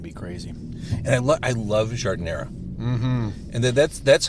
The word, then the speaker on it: giardiniera: But it's always giardiniera. Giardiniera. Well, I believe it technically has an A at the end, but I've never heard it pronounced like that, so I don't know.